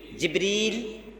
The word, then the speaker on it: জিব্রীল: কোরআনে আল্লাহ তাআলা জিবরীল বলেছেন। হাদিসেও রাসূল বারবার জিবরীল বলেছেন। তবে জিব্রাইল এ উচ্চারণেও উনাকে নামকরণ করা হয়েছে। এজন্য দুটি নামে বলা যাবে। তবে জিব্রীলটা এটাই হল কোরআনে হাদিসে অধিক উল্লেখ করা নাম।